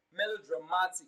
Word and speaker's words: melodramatic: in icy like melodramatic the stress is always placed on the second syllable from the end of the word melodramatic so ma is receiving